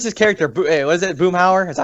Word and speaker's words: Boomhauer: But there's, I know Robert has, but there's this character, what is it, Boomhauer? Is that how you say it? Yeah, Boomhauer.